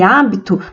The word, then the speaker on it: hábito: hoje hora homem e hábito nós não pronunciamos a letra h então são todos os